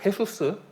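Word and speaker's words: Jesús: 많이 짓습니다 그래서 그 헤수스 헤수스는 사람들이 다 예수에 예수 예 그 스페인어에서는 제이가 흐 발음 나기 때문에 예 헤수스 어 아 그리고 뭐 이제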